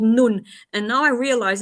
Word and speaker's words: Nun: The hotel is called Nun, and now I realize in English it's it's nun, but so, well, we pronounce it Nun.